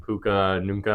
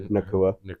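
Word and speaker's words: Nacua: Yeah, the Rams were honestly very impressive against the Seahawks last week, and Puka Nunca, or whatever the hell his name is. I don't know how to say his name. Nakua.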